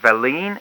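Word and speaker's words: Velline: We were into, is it Robert Verleen? Is that how you pronounce it? Robert Thomas Verleen, yeah.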